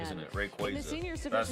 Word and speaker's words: Rayquaza: So well, they actually told us it's Rayquaza, isn't it? Rayquaza. That's how they that's how you pronounce it.